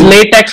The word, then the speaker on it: LaTeX: It's LaTeX but pronounced LaTeX.